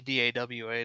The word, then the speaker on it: Dawa: with our last name, my grandpa came from the Philippines, and I guess it was spelled Daoa, and people like had a real difficult time pronouncing it. So I guess he changed it to Dawa to get the pronunciation better here.